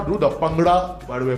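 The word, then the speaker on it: bhangra: I will show you how to do the pangra. By the way, pangada, that's the correct pronunciation.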